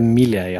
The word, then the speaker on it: Milei: Javier Milei, I think his last name's pronounced. Yes, correct.